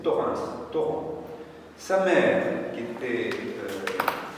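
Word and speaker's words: Thorens: Torrin, on peut prononce pas le S mais c'est Torin.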